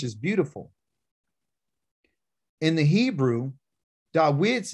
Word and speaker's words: Da'wid: of my name and pronunciation is da wid you know english is david and it has a